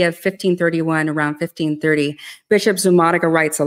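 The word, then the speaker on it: Zumárraga: We have a bishop, Zumarraga, I believe you said, that's proper pronunciation. Zumarraga, yes.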